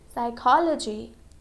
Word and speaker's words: psychology: For example, psychology. Okay? So here we can see letter P and S. Okay? That is the combination P and S. When letter P comes with letter S, letter P is silent.